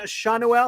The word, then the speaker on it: Schanuel: back uh you know seanuel I was trying to work on that pronunciation uh shonduel goes back down or stops playing um obviously he just came up but uh were you in on Nolan Shawn Noelle I looked it up and I think